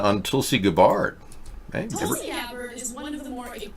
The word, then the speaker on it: Gabbard: Hey, Tulsi Gabbard is one of the more... Oh, it's Gabbard now. I thought it was Gabbard. I had her name pronounced wrong.